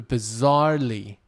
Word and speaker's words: bizarrely: the the the for bizarrely for bizarrely bizarrely 中音在中间 bizarrely for bizarrely complicated